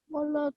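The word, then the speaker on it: و: It's nothing wrong, but it would be better if you pronounced it without a v sound. So it's a wa, like a W.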